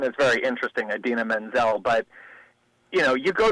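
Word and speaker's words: Idina Menzel: Bollywood or Pakistani performance artist the name he butchered I mean her name is very interesting Aden Menzel but you know you go to rehearsal you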